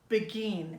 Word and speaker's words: Beguine: Begin the Beguine. That's spelled B-E-G-U-I-N-E.